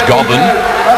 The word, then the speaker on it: Gobin: And also a Brazilian here worth looking for is Gobin, is the way the surname is pronounced.